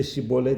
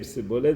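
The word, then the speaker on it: שיבולת: He couldn't say shibolet. He couldn't pronounce it properly, and we would say sibolet.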